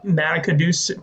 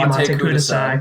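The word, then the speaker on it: Matte Kudasai: This song also kind of reminds me, here I go with the pronunciation, kind of reminds me of that Matakadus, thank you, Mate Mate Kudasai.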